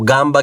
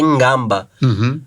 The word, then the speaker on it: ngamba: Tem o gamba que é ngamba.